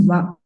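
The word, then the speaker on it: は: So only when it is sounds like after the topic, in that case we put WA sound, or in greeting konnichiwa and konbanwa.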